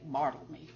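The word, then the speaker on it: Barthelme: tutelage of one Donald bartoleme that's the other guy on the back of this cover and that's how you say it marveled me I know that from dr.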